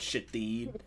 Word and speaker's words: Shithead: And it was, her name is spelled shithead, but it's pronounced Shadid.